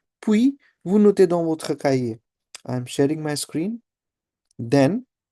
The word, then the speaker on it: cahier: Noter is a verb again to note, and cahier we know it's a word for notebook. H is silent here, right? So je partage mon écran, puis vous notez dans votre cahier.